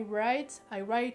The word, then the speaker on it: write: I write a book, parce qu'il y a quand même un W avant le R, donc du coup la prononciation sera pas exactement pareille, c'est logique.